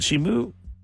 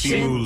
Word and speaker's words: Simu: Is it Shimu? No, Liu is how you say his last name, but is it Shin? I can never say his name right. It's Simu Lu.